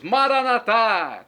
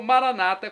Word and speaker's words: Maranata: Aramaico para o português Maranata como dizemos nosso católicos ou Maranata com a tônica na penúltima sílaba como dizem nossos irmãos separados os evangélicos ou protestantes não importa a pronúncia